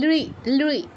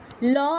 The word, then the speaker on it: লৃ: হয়েছে, এটাকে বলা হয় লৃ। ল আছে না, লয়ের নিচে রিকার দিলে ঠিক উচ্চারণটা যেমন হবে অনেকটা তেমন, লৃ এরকম।